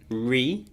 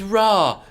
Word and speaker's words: Ra: You've got the sun god Re, or is it Ra? I think it's Re. It's Ra. Obviously.